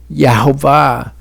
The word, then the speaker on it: Yehovah: So to my mind, Yehovah is the pronunciation with the best evidence, but tribe to